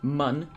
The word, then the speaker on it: Mun: Or, since it's Kerbal Space Program, it's pronounced mun.